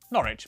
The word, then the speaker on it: Norwich: W at the start of the final syllable is silent. Norwich, Berwick, Southwark.